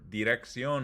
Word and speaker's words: dirección: And you can see this word, dirección, has a hard C and a soft C. Direct, hard C, sion, soft C.